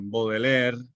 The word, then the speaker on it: Baudelaire: simbolismo poético francés del siglo XIX, donde está Baudelaire, que se escribe Baudelaire, Rimbaud, que se escribe Rimbaud, y Verlaine, que se escribe Verlaine.